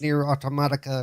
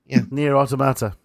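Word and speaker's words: NieR: Automata: And that weird one with the weird name that I can't pronounce, Nier Automatica or whatever it is. Nier Automata.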